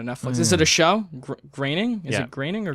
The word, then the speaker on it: Groening: Graining? Is Yeah. it graining or It's, groaning? I know it's pronounced weird. It's not pronounced how it's spelt, but it's definitely graining.